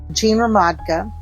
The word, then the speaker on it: Gene Ramadka: And she used to say the easiest way to pronounce my name is 3 different types of liquor. Gin, rum, vodka.